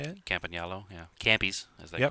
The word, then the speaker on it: Campagnolo: Campagnolo, yeah.